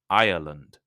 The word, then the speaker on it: Ireland: slightly different the country the name is irand has three syllables Ireland Ireland while irland the geography like uh the Britain is an island Australia is an island only has two syllables isand so listen carefully so you know if I'm saying Ireland or Island so the island of